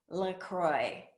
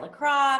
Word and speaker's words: LaCroix: The correct answer is LaCroix, right? But people pronounce it wrong all the time. So many people have heard say it LaCroix, people call it LaCroix.